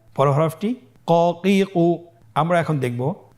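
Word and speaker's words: ك: আপনারা স্কেল লক্ষ্য করুন এবং আমার সাথে উচ্চারণ করুন। কাফ জবর কা, কাফ জের কি, কা কি, কাফ পেশ কু, কা কি কু।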